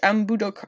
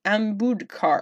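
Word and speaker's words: Ambudkar: 20 including George Takei utkarsh and budok I'm sorry utkarsh and Bud car oh I said it right the first time Arjun show and Danny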